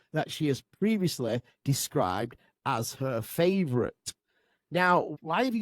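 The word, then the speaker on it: Æ: Musk, meanwhile, told podcast host Joe Rogan, I mean, it's just X, the letter X, and then the XE is like pronounced Ash, and then A-12, A-12 is my contribution.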